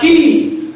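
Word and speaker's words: quay: an example time of a word like what k u a y and I told you this word is pronounced as what as key if I want to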